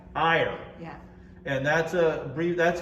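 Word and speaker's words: Éire: All right, will you pronounce this for me? Because I always see it in crossword puzzles. E-I-R-E. Ire, Ire.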